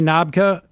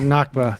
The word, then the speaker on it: Nakba: 6 foot bear uh did I say navka at the beginning you did nakba sorry um just another